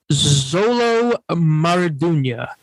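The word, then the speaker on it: Xolo Maridueña: Are you aware of the actor Zolo Maradunya?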